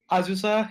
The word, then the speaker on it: Azusa: Was it Azusa or Azusa? Azusa, yeah.